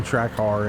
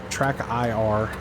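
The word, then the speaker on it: TrackIR: quick do love having track R in the game it's uh track IR I have to pronounce that a little bit better I'm shocked at how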